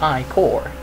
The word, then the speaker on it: ichor: That's pronounced I-core.